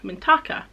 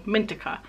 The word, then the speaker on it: Mintaka: in it was called mintaka or mintika i'm not quite sure the pronunciation but i call it mintaka and mintaka is the